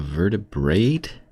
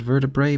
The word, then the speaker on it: vertebrae: It's called a vertebrate, even though it's spelled vertebrae? And I've always said and heard vertebrae, but now both of these guys have said vertebrate, and I'm...